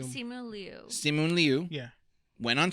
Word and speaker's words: Simu Liu: Simon Liu. Simu Liu.